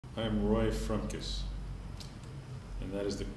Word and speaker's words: Frumkes: I am Roy frus and that is the correct pronunciation there's only one frus family in the